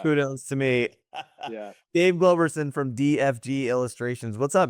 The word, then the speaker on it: Globerson: And Dave, is it Globerson? Yes. Yep. Okay, Always I'm like, mispronounced. You got it right on the first one, sir. yes. Yeah. Kudos to me. Yeah. Dave Globerson from DFG Illustrations.